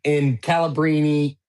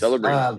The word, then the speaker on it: Celebrini: I mean, it's spelled the exact same way, except you pronounce the C as a S instead of a K.